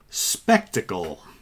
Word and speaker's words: Spektakel: band is also the name of the album spectacle okay that is spelled s is in sam p is in